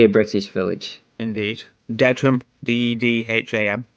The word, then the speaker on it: Dedham: Dedham. Like Deadham.